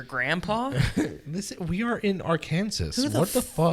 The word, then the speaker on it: Arkansas: idiot they're like it's arkansas it's arkansas i was like where's the w what i hate you they're like the s is silent and the a has